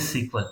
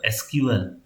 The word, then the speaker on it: SQL: Anybody, what is सीक्वल? एसक्यूएल। काफी लोग इसको सीक्वल प्रोनाउंस नहीं करते हैं। जो लोग थोड़े ओल्ड हैं, मेरे जैसे मिलेनियल्स हैं, they know it is called SQL.